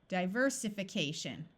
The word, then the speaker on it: diversification: This is the prefix die, so we will keep the long sound. So the next syllable to check would be this I. Let's change it from a long I to a short I. Diversification. That still isn't a word, so let's switch this to a short I. Diversification. There we go.